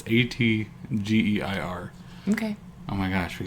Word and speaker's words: Atgeir: I don't know if that's how you pronounce that. It's Atgeir.